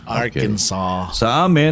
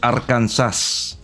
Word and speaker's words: Arkansas: clinton arkansas arkansas oh you in arkansas yeah arkansas and pronunciation is arkansas it's arkansas hello from the planet mars um